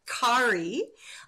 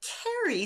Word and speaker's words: Kerry: because she's Scottish said I did not want to call you Kari I wanted your name to be Carrie so she's spelled it